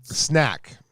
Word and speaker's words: Snek: Snack. Snack. Okay, just snack. Ow. Yeah, but it's spelled really cool. Yeah, SNEK.